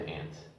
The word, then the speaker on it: aunt: that yeah but yeah usually they say it like you did just like a small just put on some ID animal like an ant I don't know I just that's how we always say I only may be here like an older person seance yeah I think yeah maybe British people say aunt but Americans just say it like an aunt yeah I don't think